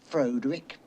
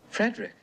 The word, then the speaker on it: Frederick: No, it's pronounced Frankenstein. Do you also say Froderick? No, Frederick.